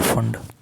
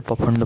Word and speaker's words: Pfund: Lyman, बामर, पाश्चन, bracket और फंड। पाश्चन, bracket और फंड लिख गया? ये लिखा है PFUND, यहाँ पे P साइलेंट रहता है, नहीं तो पफंड पढ़ लो।